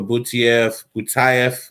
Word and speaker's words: Butaev: We got another left hand for Butaev. I'm going to start pronouncing it right now.